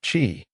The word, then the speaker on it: qi: The basic definition chi, pronounced chi, is often translated as vital energy, life force, or simply energy.